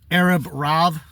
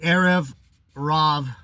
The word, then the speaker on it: Erev Rav: It's Erev Rav. You see that? Erev. It might be with a V. Erev Rav.